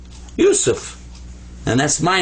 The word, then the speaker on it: Yusuf: So it's pronounced you, you. And then sa, there's the three dots, the three stems that are up here like this, without dots, actually. So that's sa, pronounced like a S. And this is fa. This comes up to be Yusuf. Yusuf.